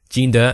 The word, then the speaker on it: Jinder: How do you pronounce it? Jinder, that's the one.